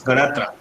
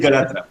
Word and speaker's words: Ganatra: pronounced my surname correctly. It's Ganatra. Okay, sir. It's Ganatra.